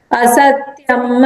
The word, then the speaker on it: असत्यम्: असत्यम् अप्रतिष्ठं ते, यहाँ पे म को फुल प्रोनाउंस करेंगे तो म।